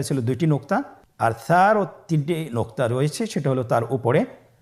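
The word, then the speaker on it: ثاء: মাখরাজ হলো উচ্চারণ স্থান জিহ্বার আগা সামনের উপরের দুই দাঁতের আগার সঙ্গে লাগিয়ে উচ্চারিত হয়।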